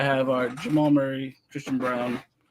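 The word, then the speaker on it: Braun: Jamal Murray Christian Brown I know it looks like Brun but I I believe he pronounces it brown especially knowing somebody with that last name I know I I I was very I always pronounced it brown but I remember watching the broadcast and it's brown I'm like really like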